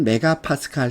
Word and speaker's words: 메가파스칼: 자, 우리 중압일 때는 0.1 메가파스칼 이상 1 메가파스칼 미만의 압력입니다. 0.1에서 1 사이 이렇게 외울까요? 설마 이걸 MPA라고 읽지 않겠죠? 메가파스칼입니다. 메가파스칼.